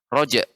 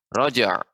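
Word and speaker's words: رجع: yarojak rojer rojer ya yang keliru kalau saya baca rojek itu kurang tepat Project makan seperti Alif yang benar rojer rojer rojer kerja iya nganu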